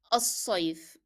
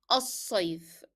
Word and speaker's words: الصيف: So صاد is a capital letter, it's a shadda letter, so we write it in capital letter and they are duplicated. So to make sure that in pronunciation you stress on it as if there are two صاد.